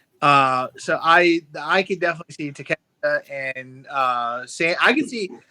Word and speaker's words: Takeshita: Okay, how do you correctly pronounce it? Because I do want to give the man Takeshita. Takeshita, thank you.